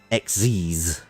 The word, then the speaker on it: Xyz: was actually just talking fun fact for you xyz is pronounced exes xc i'm just gonna